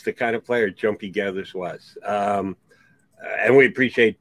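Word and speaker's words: Geathers: g-a-e-t-h no i think it's g-e-a-t-h gethers that's gathered but pronounced more like gathers um i don't know tell you the truth um i think it's just jumpy gethers but uh you know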